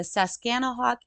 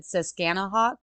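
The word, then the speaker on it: Susquehannock: because it I said siskanaha and it is s-a-s-q-u-e-h-a-n-n-o-c-k I might be pronouncing that wrong but that says scan a walk Indians the colonist and John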